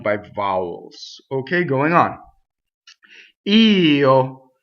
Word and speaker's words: io: Io. So the word I is technically two syllables, right? It looks like one syllable. It's always over one note. You actually have to sing two notes.